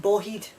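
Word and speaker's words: bawheid: around the bend around we see iron and boheed and it's spelled b a w h e i d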